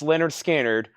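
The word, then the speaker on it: Lynyrd Skynyrd: Trey Tidwell opening up with the classic original pronounced Leonard skinnard one of our bestselling new records analog Productions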